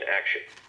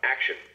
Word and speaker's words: action: Stress the act in action. VoiceBot, action.